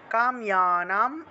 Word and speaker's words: কাম্যানাম: শ্রী ভগবান উবাচ, কাম্যানাম, কাম ইয়ানাম জফলা থাকায় ইয় উচ্চারণ, কাম্যানাম কর্মনাম ন্যাসম, ন্যাসম সন্ন্যাসম, এখানে দুইটা দন্তন্য আছে, সন্ন্যাসম কবয় বিদুহু, বিদুহু কেন হলো?